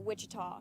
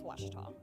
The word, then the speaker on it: Ouachita: university back in texas everybody pronounces it wichita but really it's washita how washita you pronounce